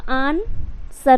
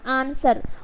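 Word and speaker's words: answer: हो जाएगा आन सर ए एन से अन उसके बाद एस ई आर सर डब्लू जो है वो साइलेंट हो गया तो क्या हो जाएगा आंसर उसी तरीके से स्वर्ड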